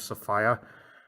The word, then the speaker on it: Sophia: He married a woman named Sophia, and yes, that is how it's pronounced.